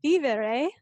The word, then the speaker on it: vivere: And so she told me I need to accentuate the I. So it's vivere dot co.